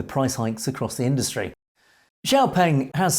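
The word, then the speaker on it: XPeng: stance Chinese EV manufacturer x-pang or xiaopeng as the Chinese pronounce it report Q3 earnings on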